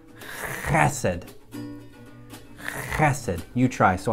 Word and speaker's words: Hesed: pronounce this word correctly you get way back in your throat and you say acid that's it you try